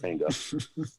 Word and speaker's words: manga: That's how you say it, manga.